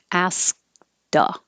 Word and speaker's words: asked: about you ask duh you won't hear the k ask duh so i put that little mark there after the k to remind you to hold the sound and not release the air ask if it's continuous